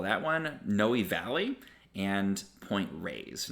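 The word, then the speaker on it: Point Reyes: re ye s and the correct way to pronounce that is point Rays like rays of sun it's not Point Reus very common Miss pronunciation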